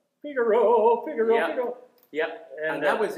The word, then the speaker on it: Figaro: I was mispronouncing it. I was called Figalo.